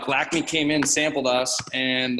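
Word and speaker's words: Lakme: We have a new color line for our southern market called Lacme. And it's Is that how it's pronounced? Yep. I couldn't figure it out. Yep. Lacme, L-A-K-M-E.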